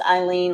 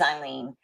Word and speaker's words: Eileen: she pronounced it's pronounced Eileen like and she told me like I lean on Jesus is how she told me so it is Eileen um and um but